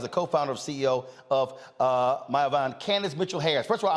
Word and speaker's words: Mayavana: Joining us right now is the co-founder and CEO of Mayavana, Candace Mitchell-Harris. First of all, am I pronouncing it correct? Yes, that's correct. All right. Mayavana.